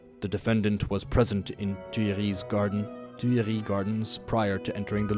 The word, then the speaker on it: Tuileries: The defendant was present in Tuileries Gardens prior to entering the Louvre. Stop pronouncing the S on Tuileries, please.